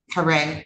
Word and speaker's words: Caree: And Caree, C A R E E, McQueen. Um Caree. Caree. It's pronounced Caree, like C A R E E.